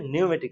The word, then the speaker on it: pneumatic: মাধ্যমে তাহলে সেটা হবে নিউমেটিক সিস্টেম নিউমেটিকের স্পেলিংটা শুরুতে পি দিয়ে আসবে হ্যাঁ পিনিওমেটিক বানানটা হবে স্পেলিংটা হবে পি নিউমেটিক কিন্তু আপনার বলবো হচ্ছে নিউমেটিক সিস্টেম তো নিউমেটিক সিস্টেমটা